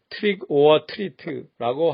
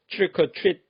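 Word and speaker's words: trick or treat: 미국에서 할로윈 때 아이들이 집집마다 다니며 트릭 어 트릿 하는 말에서 배울 수 있습니다. 트릭 오어 트리트라고 하지 않습니다. 빠르게 트릭 어 트릿 합니다.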